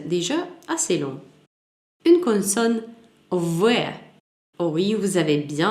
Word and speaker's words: В: Une consonne V. Oh oui, vous avez bien entendu, il se prononce comme V, pas comme le B.